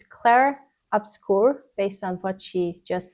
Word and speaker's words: Clair Obscur: I think first of all I mispronounced it's Claire obscur based on what she just said.